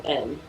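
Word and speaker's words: Kaivyn: Spelled K-A-I-V-Y-N. So Kevin.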